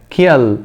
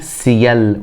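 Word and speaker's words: ciel: ككلمه اهو معناها سماء ما ينفعش اقول كا ك كا كيل خطا ليه لان حرف السي اتى بعده حرف من الثلاثه اللي بيخليه ينطق صوت الس تمام يبقى اقولها سيال وليس كيل زي كلمه برض اخرى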